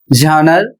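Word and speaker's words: genre: अगला शब्द है जी ई एन आर ई झनर और इसका अर्थ होता है शैली।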